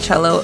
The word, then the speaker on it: Chellow: he came up with cello and spelled like yellow um and i i